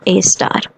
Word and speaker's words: A*: इट is pronounced एज ए स्टार.